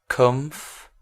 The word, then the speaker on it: comfortable: right and another one comfortable comfortable comfortable let's hear it again remember i always say it's not four syllables it's three full comfortable that's how we